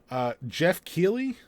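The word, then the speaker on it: Geoff Keighley: Jumping off of that into a slightly bigger thing to discuss is I never know how to pronounce this guy's name right. Jeff Keighley?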